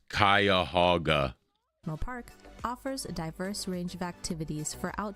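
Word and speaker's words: Cuyahoga: It's pronounced kaya hogaga park offers a diverse range of activities for outdoor enthusiast as well as culture vultures.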